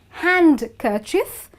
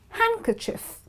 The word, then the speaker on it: handkerchief: okay the first one is not hand cief because D is silent it's handkerchief okay so listen to me one more time it's handkerchief moving on the next